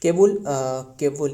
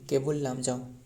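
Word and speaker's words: Keibul Lamjao: Next number 8 केबुल, ये काबुल नहीं, केबुल लामजाओ। बताइए केबुल लामजाओ रहे, असल में ये स्पेलिंग भी गलत रहे, ये होने वाला है केबुल KEIVUL।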